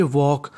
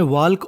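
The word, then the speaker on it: walk: हम लोग पढ़ेंगे टॉक यानी जो हमारा एल होता है वो साइलेंट होता है यानी हमें पढ़ना है वॉक और टॉक हमें वाल्क और टर्क नहीं पढ़ना ये ऐसे शब्द है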